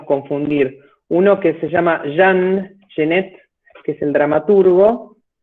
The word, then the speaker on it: Jean Genet: uno que se llama jean genet que es el dramaturgo y el otro que se llama hacer arte con doblete y 2 y con un al final a nuestro oído hispánico nos suenan igual pero en principio para